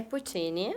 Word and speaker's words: Puccini: Então, essa é a Flávia, como pronuncia? Puccini ou Puccini? É Puccini. Eu acho que é também, é isso que eu ia falar. Porém, lá em Pouso Alegre, de onde eu venho, é Puccini. Sim.